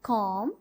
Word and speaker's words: comb: There is B. B is a silent letter in these words. We pronounce these words climb, comb, thumb. Climb, comb, thumb. We don't pronounce the letter B because it is silent letter.